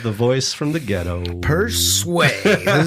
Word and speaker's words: Persue: the echo of the voice from the ghetto per sway and his ig is at p e